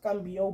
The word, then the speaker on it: Mbo: be pronouncing it wrong cuz he did come out and correct everybody that it's ambo but me I'm just